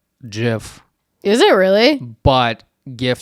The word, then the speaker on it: GIF: oh like is it gif or GIF GIF or is it gif GIF just reminds me of peanut butter like GIF peanut butter apparently it's apparently it's according to the Creator it's GIF is it really but